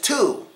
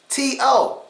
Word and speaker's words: to: next word and the next word is to t o to so let's take